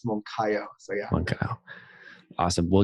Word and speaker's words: Moncayo: And that's CAYO, not CAIOO, like I've got it written out phonetically in my show notes here. I know. Many people say Moncayo, so no big deal. It's Moncayo.